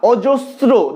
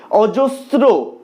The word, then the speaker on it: অজস্র: অজস্র, অজস্র বানানে যখন শটা আসছে সেক্ষেত্রে কিন্তু তোমরা দাঁতকে জিভ স্পর্শ না করিয়ে উচ্চারণ করতে পারবে না। অজস্র, দেখো অনেকটা স এর মতো শুনতে লাগে, অজস্র, এটাও দন্তস্বই থাকছে।